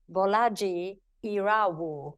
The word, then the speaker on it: Bolaji Irawo: with the wonderful bolaji iru did I say it right oh yes you landed that one I landed that one